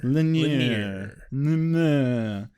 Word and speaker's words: Lanier: Lanier. That's how you pronounce is his name.